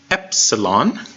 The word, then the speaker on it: epsilon: straightforward first one is epsilon Epsilon and it sounds like the e and MIT so it's basically just a normal lowercase e sound yep yep Absalon epsilon capital epsilon is a